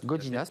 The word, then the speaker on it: Godinas: Godina, merci d'être avec nous. Godinas peut-être d'ailleurs. Godinas, parce que le S se prononce évidemment.